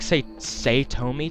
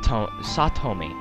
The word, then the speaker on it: Satomi: saying that right it's it sounds like say say Tomy to me but I know the A's in uh in the Japanese language are always pronounced as a so it could be uh sat satomi which actually sounds much better satomi yeah I'm going